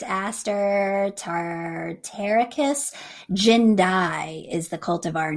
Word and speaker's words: Jindai: so this is tartarian aster it's aster tartaricus jindai is the cultivar name um j i n